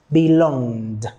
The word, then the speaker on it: belonged: we have belong belong the last sound of this is G G if you touch your throat you see that it is vibrating belong okay so in turning it into the past belonged belonged okay so let's go